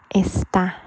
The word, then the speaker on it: está: So, for example, this one, está. So it sounds louder at the end, like more stress.